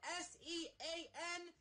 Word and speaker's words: Sean: If you think for a second that your name is Sean when it's spelled S-E-A-N, no!